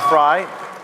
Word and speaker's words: Frei: Next, we have David Freiheit, Phonetically, yeah. known as Viva Frei, Fry, to many of you as a notable Canadian